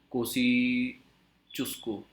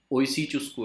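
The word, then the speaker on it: Kosciuszko: Include इसमें highest peak कौन सी है, ये हाईएस्ट पीक है कोसी चुस्को, ओसी चुस्को है, के साइलेंट है शायद इसको, तो ओसी चुस्को इसकी हाईएस्ट पीक है।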